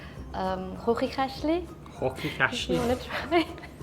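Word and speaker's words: Chuchichäschtli: And the most funny word, we usually let the people pronounce it. It's one of the difficult Swiss German words. It's like Hochikashli.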